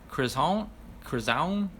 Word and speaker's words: Chris Hound: No, more like Chris Hound, like croissant, Chris Hound.